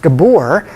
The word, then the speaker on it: Gabor: That word is pronounced Gabor. That's okay, that's right. It's a Hungarian pronunciation.